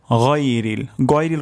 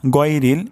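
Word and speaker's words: غَيْرِ: উচ্চারণ করব আলাইহিম আলাইহিম আলাইহিম তারপর শব্দটি হলো গইরিল কখনো হবে না গয়রিল এটি অশুদ্ধ উচ্চারণ উচ্চারণটি এখানে হবে হলকের গলার শেষ শেষ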